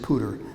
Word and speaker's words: Powder: spelled powder but um the family pronounces it pooter Andrew pooter lived from